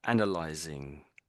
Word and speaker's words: analyzing: Yeah, I can just about hear the NG, I think. So, I'll try again for you. So, analyzing.